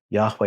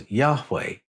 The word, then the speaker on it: Yahweh: were they pronounced now when you put the vowels into the name the H's almost disappear it becomes yahwe but I'm going to